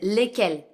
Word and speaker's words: lesquelles: By the way, the pronunciation of the two plurals is lesquels. It's exactly the same.